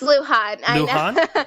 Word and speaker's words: Lujan: worked with uh Joe Lujan or Lujan. It's Luhan. It's one of those names that's hard to pronounce. I used to think it was Lugen, too.